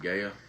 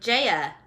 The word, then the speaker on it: Gaia: There's a G. But there's a pronunciation thing underneath, and it's Lexi a Gaia. J-E dash slash E backward slash. Well, that just means it's a long E. So Jaya.